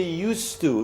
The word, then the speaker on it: used to: the D so I used to live in my with my mother so you write the D when you write it but you don't say it when you speak so you don't say